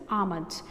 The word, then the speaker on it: almonds: It is almonds written here, ALMNDS, but the pronunciation is almonds and L is silence here.